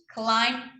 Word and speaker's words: climb: Então, presta atenção aqui que esse B é mudo, eu não pronuncio esse B, tá? So, if I was a witch, I would climb on my broom and fly away with a zoom, zoom, zoom.